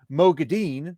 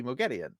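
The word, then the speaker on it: Moghedien: Like, instead of Mogadine, they started going Mogedian. And it's supposed to be Mogedian.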